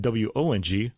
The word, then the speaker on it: Wang: in the Cantonese but it's all pronounced the same way it's Wong and I should have